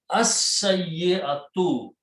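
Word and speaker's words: السيئة: So al will change one dhamma. It will become al, and seen is a shamsi letter. It will be as. Lam will not be pronounced. So it will become shadda. As-sayyatu. As-sayyatu means an evil act,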